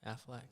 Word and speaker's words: Affleck: be ben athletic mm-hmm is that how you say his name affleck yeah like the commercial the aflac commercial but uh yeah i